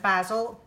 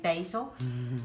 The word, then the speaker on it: basil: pesto sorry the required basil or should I say basil as the Americans say we Brits a browser you say basil right there so here we